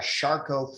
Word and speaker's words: Charcot: They call that a Charcot foot or a Charcot joint. That's how they pronounce that.